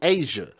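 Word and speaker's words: Azsia: and killed Asia Johnson, and her name is spelled in a unique way. It's A-Z-S-I-A, Asia.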